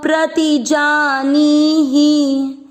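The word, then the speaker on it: प्रतिजानीहि: प्रति जानी और ही की मात्रा छोटी। प्रति जानी ही को नहीं खींचना, नी को खींचना है, क्योंकि मात्रा जो बड़ी होती है उसको अपन उच्चारण में अधिक समय देते हैं।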